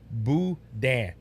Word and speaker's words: boudin: It's boudin.